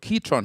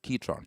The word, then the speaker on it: Ketron: done is sorry what ketron have done is they have given you and that's the official pronunciation it's actually ketron right not catron ketron keyboard electronics keytron so what keytron have